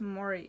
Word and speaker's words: Mori: Pronounces Mori, similar to how you say mortally. Okay, sure. Yeah, this giant spear. What is that, a large harpoon? Harpoon is also pronounced as Mori.